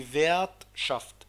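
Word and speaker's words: Wirtschaft: حرف ال R ده بيتنطق في وسط الكلام غين أو ممكن ما يتنطقش لو في بينهم حرفين، واحد متحرك وواحد ساكن، لكن ما لازم يتنطق، بس بيتنطق غين في وسط الكلام لو بين حرفين متحركين.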